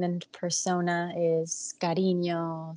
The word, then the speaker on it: Karinyo: pronouns and my artist name and Persona is Carino spelled with a k k r i n i